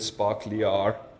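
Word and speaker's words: sparklyr: how to say this I'm gonna say sparklier but I've heard sparkly are sparklier are we good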